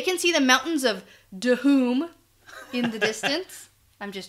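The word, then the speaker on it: Dhoom: So they can see the mountains of Dahoom in the distance. I'm just joking. I know it's Doom. Yeah, that's okay. You can do that. You like Dahoom? Dahoom, yeah. You have to pronounce the H.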